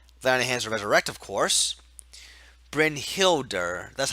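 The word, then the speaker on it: Brynhildr: damage and then Vanna has resurrect of course brynhilda that's how you pronounce it okay thank you you're the monk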